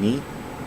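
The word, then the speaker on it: nǐ: know good gap but while saying knee it's the third tone so it goes like so it goes yeah right here down then so it's a third tone and it is written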